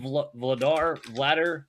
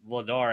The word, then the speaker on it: Vladar: And Dan Vladar, I say Vladar, but it's like Vladar, I think is how you pronounce it.